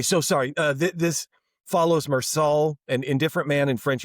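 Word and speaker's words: Meursault: The story follow follows Mersault Mersault. I know cuz I'm seeing a T and I didn't pronounce it.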